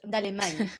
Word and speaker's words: Dallemagne: You always pronounce her name like an Italian. It's Dallemagne because she's Belgian, isn't she? Yeah. So it's French.